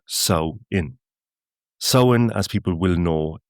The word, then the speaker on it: Samhain: So, the first thing is that that really doesn't make too much sense at all in its modern context. A guelga we call the month sin, pronounced sain.